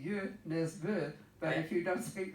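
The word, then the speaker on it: Nesbø: totally off base yeah it's like Jo Nesbo who's really you miss booth but if you don't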